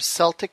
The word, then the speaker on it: Celtic: Tell us about your Celtic studies that you teach at Enchanted Earth. Well, it's Celt. There is no soft C in Gaelic. Oh, what did I say? Did I? Well, Celtic, because everybody's used to